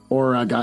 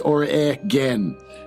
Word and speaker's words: Oregon: write this down so I don't say Oregon origon it's Oran he gave me a